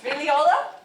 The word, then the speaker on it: Figliola: Okay, this play is from Astor Figliola. Did I say it correctly? Yeah. Yeah, Itch? You can correct me. I love to be corrected. Figliola?